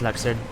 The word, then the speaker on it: Luxord: And I don't care how they say his name in the cutscene, it's Luxord.